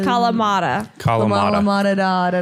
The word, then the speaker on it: Kalamata: Kalamata.